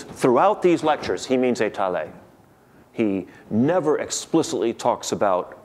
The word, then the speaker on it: étaler: There are two French words, étaler and étal, and Grothendieck has absorbed the English speaker's habit of pronouncing them alike. He just says étal for both.